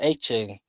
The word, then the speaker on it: Etienne: Um, I'm gonna say Travis Etienne.